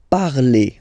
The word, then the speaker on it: parlez: Vous parlez. Okay, remember a Z, when you combine them together, you get the sound E. Vous parlez.